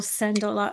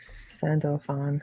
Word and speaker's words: Sandalphon: twin angel his twin brother is the archangel send a lot it's sentiment i can never say his name right yeah mental fun sandalphon yeah yeah everything's on the table guys yeah